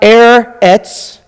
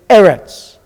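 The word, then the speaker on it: ארץ: And the syllables are broken here. Open, closed. So it's not Eretz, it's Eretz.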